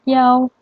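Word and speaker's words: 一: Nah, yang pertama, dalam penyebutan I1 yang berarti 1 itu sering dibaca menjadi yao.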